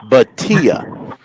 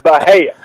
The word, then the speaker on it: Bhatia: You didn't butcher it, but going by his pronunciation on his bio, it's Akshay Bhatia. The T is pronounced.